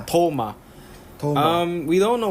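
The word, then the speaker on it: Thoma: Ichigo Kurosaki Tom and that's spelled with a th h o m a like thas the Tank Engine yes Tom Tom um we don't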